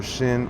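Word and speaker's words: שין: In English, it can be presented phonetically as sh for shin or s for sin. See, this is crazy. I didn't know this. It's pronounced as shin, and when it has a...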